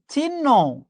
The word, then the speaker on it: চিহ্ন: আমরা উচ্চারণ করি চিহ্ন। তার কোন চিহ্নই নেই। বিশ্বাস করেন ভুল। মনে রাখবেন চিহ্ন এই উচ্চারণটা ভুল। এটার উচ্চারণ হচ্ছে চিহ্ন। ঠিক আছে? চিহ্ন না চিহ্ন।